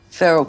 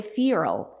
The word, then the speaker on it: feral: official feral cat photographer feral cats so remember in American English native speakers do not say fural they say feral if you want to